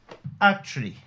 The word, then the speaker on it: actually: Actually est un mot de 3 syllabes, mais il a un suffixe en li, qui conformément à la deuxième règle, ne change pas le placement de l'accent dans le mot. Donc l'accent finira toujours en première syllabe, conformément à la